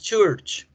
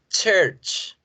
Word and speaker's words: church: Decíamos church y no es church. Es church. Church.